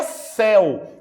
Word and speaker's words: céu: essa palavra daqui exato aqui é céu o sonho aberto Então não é só